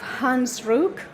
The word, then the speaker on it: Hans Ruck: Then we have Hans Ruck, Chairman of the International Port Community Association, IPCSA. That's how it should be pronounced, he tells me.